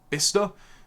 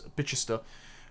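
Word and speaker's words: Bicester: This is one of the asylum contracts in Wales, but the same thing has happened in Bista. I was told off for mispronouncing it as Bitchista, the area in in Oxford where they're imposing 1,250 foreign men on a village of 400.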